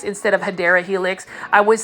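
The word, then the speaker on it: Hedera helix: this is everybody's favorite this is a HRA helix or the correct way to say it is hadera Helix English ivy so for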